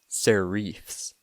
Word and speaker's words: serifs: The first word you should know is serifs, although if you're a true font snob, you should pronounce it serifs.